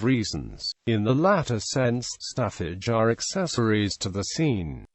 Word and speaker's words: Staffage: In painting, Stafage pronounced his in French are the human and animal